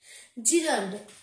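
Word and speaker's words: gerund: জিরান্ড, English গ্রামারের most important topic, জিরান্ড and infinitive,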